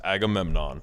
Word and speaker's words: Agamemnon: It's Agamemnon, 4 syllables.